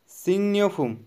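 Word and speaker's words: 식료품: सिङ्गोफुम, सिङ्गोफुम भनेको चाहिँ खाद्य पदार्थ। यो ग चाहिँ ङमा उच्चारण हुन्छ र यो ल चाहिँ नमा उच्चारण हुन्छ।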